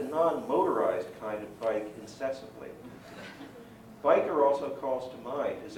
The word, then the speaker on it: Wiebe: However, I always have pronounced his name Biker, like Hell's Angel.